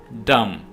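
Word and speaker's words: dumb: है क्लाइम ऊपर चढ़ना डम यहां पर भी आपने बी को साइलेंट रखना है यह वर्ड है डम डम के मानी है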